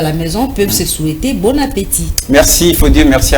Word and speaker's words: bon appétit: qui est à table très souvent les gens disent bonatti pourtant il ya et qui est placé d'un accent aigu donc il faut prononcer bon appétit et l'ombre merci merci